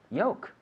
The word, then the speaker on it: yolk: Yolk. Y-O-L-K. Yolk. With the silent L.